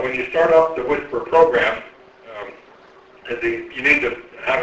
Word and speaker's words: WSPR: So WSPR, the original acronym stood for Weak Signal Propagation Reporter. But it was nice that it had a pronounceable acronym word, WSPR, and we talk about whispering around the world using low power, quasi-beacon-like transmissions.